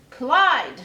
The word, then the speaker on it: Clyde: "Clyde, what a nice name. It rhymes with slide, and that's what you have to do.